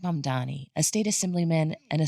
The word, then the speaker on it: Mamdani: former governor Andrew Cuomo and younger progressives like M Donnie, a state assemblyman and a self-described Democratic socialist. The name is M Dani.